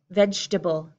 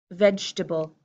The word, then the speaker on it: vegetable: common American English pronunciation I cut this into three pieces and I say vegetable vegetable I can't decide which